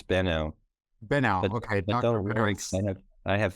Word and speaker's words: Benau: based clinical consultation Psychotherapy and psychological testing Dr banal currently I I think I feel like I'm saying that wrong you say it differently right Dr oh uh it's been out been out okay I have family members who